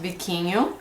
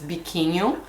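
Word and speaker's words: biquinho: those and then have the bikin pepper it's pronounced bikin I'm Brazilian I speak Portuguese so in our language is bikin that's how you say the name of this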